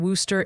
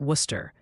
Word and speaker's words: Worcester: If you live in Worcester, it's like Worcester. If you're not from Worcester, you'd say it like Rooster, even in surrounding areas.